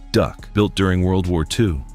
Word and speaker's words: DUKW: The GMC DUKW, pronounced Duck, built during World War II.